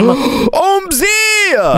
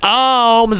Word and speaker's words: Omz: letter I'm about to put my whole name omy what that's not how you say my name